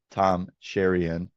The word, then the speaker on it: Tom Cheriyan: I'm joined by a very special guest, Tom Sherion. Did I say it right? You did. Okay, beautiful. Apparently, I've been mispronouncing it for the last four years, and